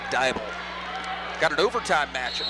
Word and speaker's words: Dybel: pronounce it anyway, but do not say Dibble. I guess PA announcers across the state have said Dibble. It is indeed Dybel.